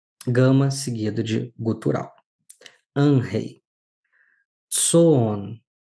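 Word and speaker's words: ζῷον: Tsoon. Olha, lembram do iota subscrito? Aparece aqui na palavra tsoon. Não pronuncio o iota que está subscrito.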